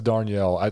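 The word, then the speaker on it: Darnielle: um by the way his last name is darnell that's the only way i know how to pronounce it d-a-r-n-i-e-l-l-e every single time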